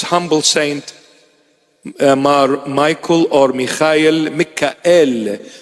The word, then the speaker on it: Michael: May the prayers and intercession of this humble saint, Michael or Michael, Mikael. The proper pronunciation of Michael is Mikael.